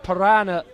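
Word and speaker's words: Parana: comes on or Thiago piranha on his shirt not actually spelled like the animal p-a-r-a-n-a this is surname but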